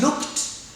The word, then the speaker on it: looked: But you can say I had looked. Looked. Past participle verb to look is looked. And the simple past of this verb is looked. Don't say looked. This ed becomes et in terms of pronunciation.